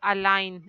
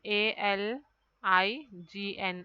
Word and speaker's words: align: or you can write align a l i g n align here also g is silent then tongue uh you